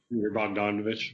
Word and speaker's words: Bogdanovich: Bogdanovich.